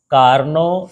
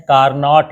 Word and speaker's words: Carnot: 11.11 और ये है कार्नो इंजन, और अंग्रेजी में ऐसा लिखते हैं कार्नोट इंजन। टी साइलेंट रहता है तो उसको क्या पढ़ेंगे, कार्नो इंजन।